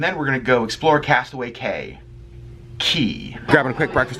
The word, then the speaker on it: Castaway Cay: of people pronounce it Castaway Cay just you know the words CA Y in the Bahamas is pronounced like key ke Y so it is castaway key or go get breakfast